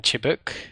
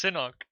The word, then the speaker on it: Sinok: Now this guy, their demo man Chibuk. I always struggle to pronounce his name. Sinok. God damn it! It's Sinok.